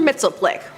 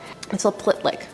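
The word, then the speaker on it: Mxyzptlk: Mitzelplick. Mitzelplitlick. Mitzelplitlick? Pitlick? Now I spent some time practicing how to say this, and I ended up going with the Superman animated series Gilbert Gottfried pronunciation.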